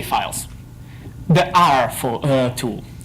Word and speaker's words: ar: The R tool. There's a reason this rhymes with tar, and it's that tar pretty much obsoleted R in day-to-day use.